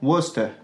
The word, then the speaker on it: Worcester: Et il se prononcera ou dans Bosom, Wolf, Woman. Wasted ou encore Worcester.